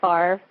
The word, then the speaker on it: Favre: There's, how there's Brett Favre, which is spelled Favre, which I love.